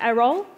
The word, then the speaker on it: Eriol: So I'm Eriol, pronounced Eriol.